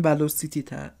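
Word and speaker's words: velocity: توکن نمیک بپردازیم یعنی توکن وسیتی توکن ولو سیتی تلفظ میشه شتاب یک توکن ترجمه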